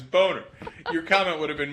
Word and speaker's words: Boehner: know they changed it the reality is course the name as Jesus points out every time is boner your comment would have